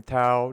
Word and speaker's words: Thao: show we've got william tau did i butcher your name or did i pronounce it no you're good yeah that's exactly how you pronounce it okay okay what